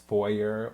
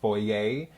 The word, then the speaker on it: foyer: the marble that's in Bertha's foyer or foyer, depending on, of course, the American or European pronunciation.